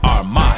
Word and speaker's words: Armah: to the morning announcement I'mma say my name so you can pronounce it AR my shout out to early